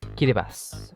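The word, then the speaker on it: Kiribati: It's pronounced Kilibas, which sounds like if you try to say Gilbert with Japanese accent, but it just means Gilbert.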